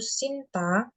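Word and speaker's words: 신다: kaki itu pakainya Shinoyo, atau kata dasarnya itu Sinta, Sin, Sinta, Sinta, Sinda, tulisnya Sinda, Mm. tapi dibacanya kayak agak-agak T gitu.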